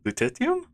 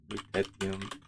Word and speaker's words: lutetium: I'm not gonna try to pronounce that correctly. Yeah, lutetium? I'm gonna Google it now. Lutetium pronounce.